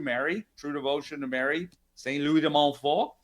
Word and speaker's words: Louis de Montfort: Saint Louis de Montfort. That's the proper French pronunciation for it.